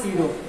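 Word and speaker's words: pseudo: इसको हम कहते हैं सीडो फोर्स। ध्यान सुनो जरा, स्पेलिंग होती है सीडो, इसको हम कहते हैं सीडो फोर्स।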